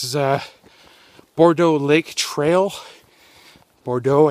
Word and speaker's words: Bourgeau: Bourgeau, I think is how you pronounce it.